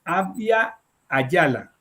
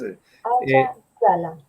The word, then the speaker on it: Abya Yala: Abya Yala. ¿Cómo es? ¿Tú cómo lo pronuncias? Abya Yala.